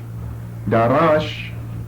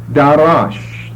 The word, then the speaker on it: darash: It comes from a verb D, long A, R, short A, S-H. Darash, which means to seek, to search, or to examine.